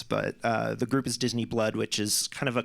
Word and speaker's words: Disiniblud: Um, so Disney Blood, which is how it's you you have to spell it differently for legal reasons, but uh, the group is Disney Blood, which is kind of